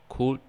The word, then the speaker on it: could: And next we have silent L. It's written on the word, but we don't spell that out loud. For example, would, should, could, could, etc.